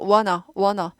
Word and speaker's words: wanna: 튀는 발음을 싫어해서 wanna.